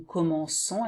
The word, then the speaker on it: commençons: And you have to put the C with a little thing here below, which is a C-C-D, to have this pronunciation of nous commençons instead of commençons.